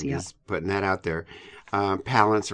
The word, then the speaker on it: Palance: putting that out there Palance rhymes with balance I think kalons rhymes